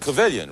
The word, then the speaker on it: Cavillion: Jane and David Cavillion, rhymes with a million.